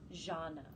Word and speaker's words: Zhana: And I will be interviewing so I want to make sure I'm pronouncing this correct. So you prefer Dr. Zhana? Zhana.